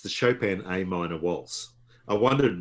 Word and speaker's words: Chopin: I said chopping and before with somebody in the Peanuts. Say it properly, Chopin.